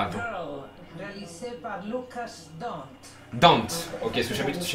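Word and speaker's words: Dhont: Dante, ok, parce que je savais pas du tout comment prononcer.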